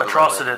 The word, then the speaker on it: Atrocitus: He's the bad guy for Atrocitus. Atrocitus.